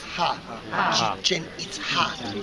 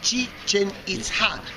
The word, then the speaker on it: Chichen Itza: That it was, try with me this word, Chichen Itza. Chichen Itza. This is the correct pronunciation.